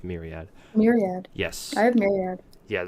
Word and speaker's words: Myriad: Myriad. Yes. I have Myriad. Yeah, that's how it's pronounced.